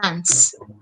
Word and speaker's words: dance: Se escribe dance, pero la manera de pronunciar este verbo es dance. Como si acabara en S, no en E.